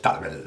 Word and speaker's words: Tarbell: Tarbell, o Tarbell, bueno, en castellano o en inglés es Tarbell, la L no se pronuncia, en catalán sí.